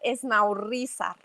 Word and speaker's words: Esnaurrízar: Y casi lo pronuncias bien. Se dice Esnaurrizar. Esnaurrizar.